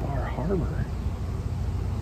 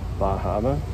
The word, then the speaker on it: Bar Harbor: Oh, it's freaking Bar Harbor. You're saying it wrong, that's why. Bahama?